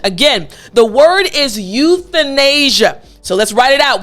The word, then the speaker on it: euthanasia: very long word but i want to go over the th portion euthanasia now in order for you to make the th sound properly what you need to remember is to put your tongue through your teeth this is the key